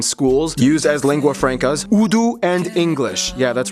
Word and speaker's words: Urdu: used as lingua francas, Urdu and English. Yeah, that's right, it's pronounced Urdu, not Urdu.